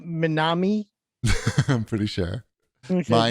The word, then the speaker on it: MYNAME: It's MYNAME, and it's pronounced Minami.